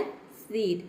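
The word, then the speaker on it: cede: और जो ई है ये साइलेंट है, क्यों? क्योंकि वर्ड के अंत में आया है। किसी भी वर्ड के अंत में अगर ई आता है तो वहाँ पे ई लेटर साइलेंट रहता है, ई को हम प्रोनाउंस नहीं करते हैं।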